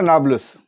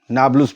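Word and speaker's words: Nablus: West Bank का एक शहर है नाब्लुस, नाब्लुस भी कहते हैं, नाब्लस भी कहते हैं, अलग अलग प्रोनाउंसिएशन है।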